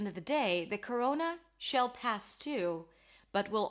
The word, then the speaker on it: Corona: So the name of the virus and the beer is Corona. We start with a k sound, then it's a schwa, k, ro, o as in go, coro, and then n, corona.